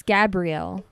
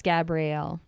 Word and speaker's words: Gabrielle: it was gabrielle it's gabrielle because gabriel yeah right it's not gabriel it's gabrielle okay that's how they were